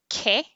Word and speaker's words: que: So the U is silent when you have the QUE and the QUI, so it makes a k sound. Like the word what is ke, not que.